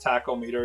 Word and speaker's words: tachometer: The t the t they take the tachometer being tachometer or tachometer. I guess it's tackle meter is how you pronounce it being the uh